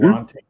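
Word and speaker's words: Alontae: Alante Taylor.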